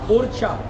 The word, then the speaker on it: Orchha: जगह का नाम हुआ उछा यू आर C double H उछा उर् mean go and catch but slowly slowly pronounce got change right now we pronounce ओछा ओ R seed H